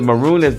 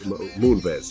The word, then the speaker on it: Moonves: Am I pronouncing his last name right? Munez? What's his He CBS? was a chairman and he lost his job too. His wife was a girl, the Chinese lady on The View. Leslie Roy Moonves. How you pronounce it? I'm probably pronouncing it wrong, but it's Moonves. Yeah.